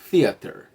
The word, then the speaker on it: theater: é o ideal tá o ideal é a língua no meio dos dentes assim ó pronunciando a letra T deixando o ar fugir um pouquinho fica theater Tá bom então th